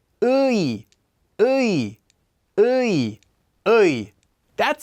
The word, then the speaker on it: 의: Ui, ui, ui, ui. That's how it's pronounced, simply reading the two vowels in order.